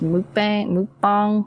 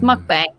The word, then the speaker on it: mukbang: I don't think yeah I think it's pronounced moot bang bong I don't know it's mukbang I don't care I said